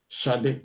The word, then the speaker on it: Ṣadé: Ṣadé, that's the way it's pronounced.